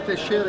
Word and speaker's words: Teixeira: Did I pronounce that right? Yeah, Teixeira, yeah.